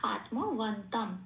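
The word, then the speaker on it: আত্মবন্তং: কিন্তু এখানে এই শব্দটা শেষে অনুস্বর আছে, শব্দের শেষে অনুস্বর থাকলে 4 নম্বরে তালিকাভুক্ত করে দেওয়া আছে, ময় হসন্ত দিয়ে সেটা সবসময় প্রতিস্থাপিত হয়ে যায়। ময় হসন্ত দিয়ে প্রতিস্থাপিত হয়ে তাহলে শব্দটার উচ্চারণ হলো আত্মবন্তম, এটা ন পূর্ণরূপে উচ্চারিত হবে তারপরে অক্ষর।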